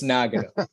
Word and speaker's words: Nagano: Yeah, Nagano, or some people say Nagano. Nagano. Nagano. Ross is being nice. The rest of the world says Nagano. It's Nagano. Okay. So it's like Rebagliati. It's Nagano.